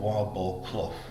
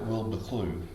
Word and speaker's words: Wildboar Clough: Now, I must get the pronunciation right here because on paper this village is called Wildboar Clough, but the people around it call it Wilbur Clough.